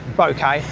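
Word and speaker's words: buket: So, there, uh, they call a a bouquet, it's spelled like bucket. So, bouquet.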